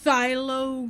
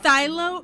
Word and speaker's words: phthalo: So is that phthalo? Is that how you would pronounce that? Or is it philo?